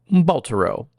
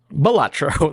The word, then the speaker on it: Balatro: No, so the first thing I play was Baltero. Nope. Balatro? Balatro. That probably is actually how it's said.